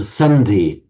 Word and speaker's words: sandhi: Then finally, we come to sandhi. Sandhi, it's the same di as in samadhi, and these words like that.